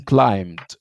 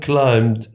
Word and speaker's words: climbed: the valley in two minutes uh you mean climbed right yes two things we don't pronounce the ba and we add ed right yes can you say it again yeah the man climbed the valley in ten minutes absolutely thank you